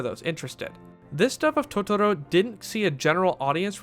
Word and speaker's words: Totoro: However, Totoro is pronounced in a more Americanized way, like Totoro.